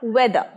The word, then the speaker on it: weather: ওয়েদার বলবে না, লাস্টের র উচ্চারণ হবে না, ওয়েদার।